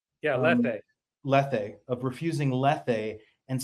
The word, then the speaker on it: Lethe: Did I pronounce that right? Yeah, lethe.